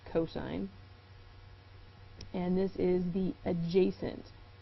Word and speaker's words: cos: is cosine of a abbreviated as cost but pronounced cosine and this is the adjacent side divided by